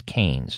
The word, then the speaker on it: Keynes: So you'd think Keynes, but it's Keynes is how you pronounce it.